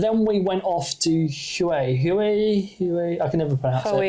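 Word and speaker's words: Huế: we went off to hu hu hu I can never Hue Hue it's spelled Hue like a like a color like the Hues yeah but it's not pronounced that way and that's a really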